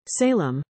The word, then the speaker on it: Salame: Salame, whose name is pronounced Salame, last week became the 4th top FTX executive to plead guilty, including to a charge of violating campaign finance law.